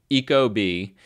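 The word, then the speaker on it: ecobee: kind of weird but it's like e Eco like eco-friendly and then B like the animal like the insect B Eco B those are the two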